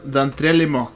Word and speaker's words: D'entre les morts: No tenéis que pronunciar nunca la S. La S, No. no. Ya, Debería ser D'entre les morts, pero no La estoy de seguro.